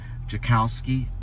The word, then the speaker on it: Tchaikovsky: I believe it's Tchaikovsky is the pronunciation in Russia. Tchaikovsky. And he would go to Moscow at the age of 23 as a prodigy.